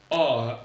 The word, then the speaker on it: hour: Avec une précision utile tout de même à apporter pour la prononciation, H-O-U-R, qui veut dire l'heure, se prononce A, on ne prononce pas le H.